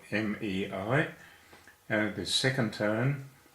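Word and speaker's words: 没: The next character is Mei. Mei is spelled M-E-I, and it is second tone, a rising tone. Mei. It's pronounced like the month of May, and it negates yo.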